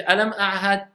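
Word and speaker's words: ألم أعهد: Alam ahad. Vas-y. J'entends pas assez bien le ayn. Voilà, ça devient mieux. Alam a'had. Faut que j'entende la distinction entre le ayn et le ha.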